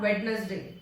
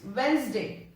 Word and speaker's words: Wednesday: ये मैंने पहले भी बताया है एक वीडियो में, जहाँ पे प्रोनाउंसिएशन वीडियो बनाई थी, उसमें था Wednesday and it is not Wednesday. It's Wednesday.